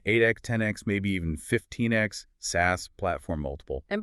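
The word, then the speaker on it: SaaS: 10x, maybe even 15x SAS platform multiple. And by the way, for anyone listening, we are pronouncing it SAS today.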